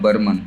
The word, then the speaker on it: Burman: ये दरअसल ये जो इसका प्रोनाउंसिएशन है इनके सरनेम का, ये बर्मन करके है। हाँ, बर्मन। हाँ, तो इसको जल्दी में बर्मा पढ़ देते हैं, लेकिन ये बर्मन हमको लगता है वो